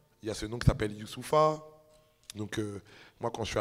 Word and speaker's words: Youssoupha: ya c'est donc s'appelle youssoupha donc moi quand je suis arrivé en france c'était dur de prononcer mon prénom et j'ai entendu youssouf you save à mustapha